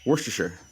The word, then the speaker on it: Worcestershire: leave it but how the heck do you pronounce is it Worcestershire sauce you just say it fast you just say Worcestershire what's and yeah and here's the funny thing